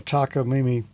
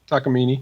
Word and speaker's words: Takamine: There was another time a friend of mine, Earl, was over here, and he had a Takamine, or however you pronounce it, acoustic guitar. Yep. Close. Takamine.